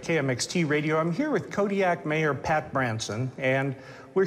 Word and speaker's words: Kodiaq: In the Aleutic language, the Qs are more come from like your throat than a normal K does. How would we pronounce it then? Kodiaq. Kodiaq.